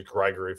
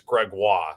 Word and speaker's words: Gregoire: I had in my head it was Gregory for the longest time, but I've heard other people say it's Gregoire.